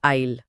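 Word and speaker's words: isle: आईल और आईल। हां ये साइलेंट ऐसी तो सारा भ्रम पैदा करता है।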